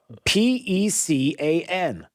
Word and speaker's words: pecan: How do you pronounce that word? Pecan. It's not pecan? Not where I come from. Are you sure? Do you know there's 3 ways to say it?